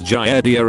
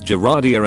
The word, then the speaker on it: Giardia: Doesn't drive me nuts, but one of the hosts of this podcast will kill you always mispronounces Giardia as Geradia and the other one always gives her for it.